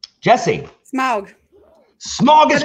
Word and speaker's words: Smaug: This dragon's name, despite its film pronunciation, is a homophone with a word describing a hazy, polluted atmosphere. Jesse. Smaug.